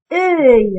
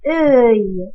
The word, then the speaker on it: œil: C'est œil. Et se prononce œil. Regardez, œil.